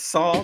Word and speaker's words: Saw: Saw, at least say it right. At least say it correctly. It's Saw the Lightning Wielder.